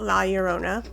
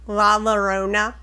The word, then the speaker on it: La Llorona: If you have personal stories about La Llorona, or La Llorona, like the American way you would say it, because, we're so special, we have to take over pronunciations.